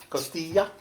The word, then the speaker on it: costilla: My favorite was the costilla, and then the queso. How's that? Costilla? Costilla? Costilla? I gotta move your mouth like Costilla. That's good. Actually, you are saying it right.